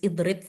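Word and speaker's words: اضرب: Ini juga sebenarnya Idrib. kalau nggak ditulis idrib kasroh ini kita sudah paham kalau alifnya ini berharokat kasroh. Kita bacanya kasroh idrib.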